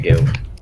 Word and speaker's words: GLLT: like, hey, guilt, and the other guy, GLLT was like, no, that's not how you say it. It's really annoying. But I was like, I guess, I asked them today, and they said just say guilt.